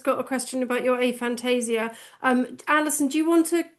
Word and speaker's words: aphantasia: did not know that you had, I don't even know how to say it properly, aphasia. Aphantasia. Aphantasia.